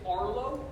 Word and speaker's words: Arlo: Yeah, it's Arlo. It's spelled ARLO.